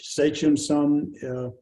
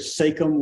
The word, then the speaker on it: sachem: I think most people pronounce it with a soft CH, sachem. Sometimes you'll hear it sachem with a hard CH.